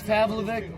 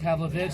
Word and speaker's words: Pavlovic: Had Alex Pavlovvic been covering the game tonight? Pavlovic. Pavlovich.